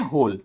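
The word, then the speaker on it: whole: वी met every day फॉर अ होल week, इसको पढ़ते हैं होल। ठीक है, डब्ल्यू का कोई प्रोनाउंसिएशन नहीं है, इसको बोलेंगे होल।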